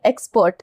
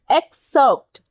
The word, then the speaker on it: excerpt: Next word is, ध्यान से पढ़िएगा, बहुत लोग इसको प्रोनाउंस करेंगे जल्दबाजी में, एक्सपर्ट। इट्स नॉट इट्स एक्सर्प्ट, एक्सर्प्ट, ठीक है, EXCERPT, एक्सर्प्ट।